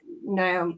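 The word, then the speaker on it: Noomi: Yeah, it's with Naomi, how do you say it? Numi, not Naomi.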